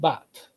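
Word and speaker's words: בת: In Hebrew, instead of banat, it's pronounced bat.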